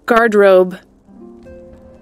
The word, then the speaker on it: garderobe: Garderobe. I'm going to have to line for a second here. Guard robe. Oh, it's just guard robe.